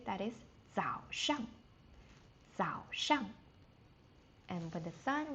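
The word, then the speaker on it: 早上: língchén sāndiǎn And, after we wake up, normally from like uh 6:00 or 7:00, we would say that is zǎoshang.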